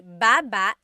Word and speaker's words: baba: So depending on how you're saying it, it could be baba, chin, baba. Emphasis is on the first syllable.